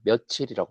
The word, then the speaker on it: 며칠: 며칠을 만약에 바르게 발음한다면은 우리가 며칠이라는 단어가 있다고 했을 때 얘를 바르게 발음한다면은 몇 일로 발음해야 되겠지? 근데 우리 이렇게 발음 안 하잖아. 몇 일로 발음한 사람 없죠? 아, 며칠이라고 발음하지.